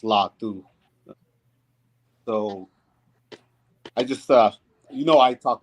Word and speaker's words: Latu: So Cameron Latu is pronounced Latu.